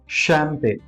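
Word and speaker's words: champagne: इन सारे वर्ड्स में CH का सही प्रोनाउंसिएशन श है।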